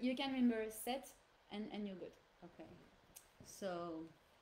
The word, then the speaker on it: cette: So here it's set. So we pronounce it set and it's written C-E-double-T-E. Set. Okay. We go with the double T and the E at the end because it's feminine.